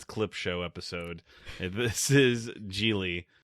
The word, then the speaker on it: Gigli: Gigli, or as the pronunciation on Wikipedia, Gigli, does not have rhymes with really.